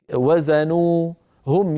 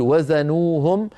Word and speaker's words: وزنوهم: كالوهم هما كلمه واحده فلا تفصل نطقا يعني ليس لقارئ ان يقول وزنوا هم يخسرون ليس لاحد ان يفعل ذلك لابد ان يقول وزنوهم بوز فعلهم